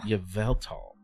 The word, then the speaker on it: Yveltal: Yveltal.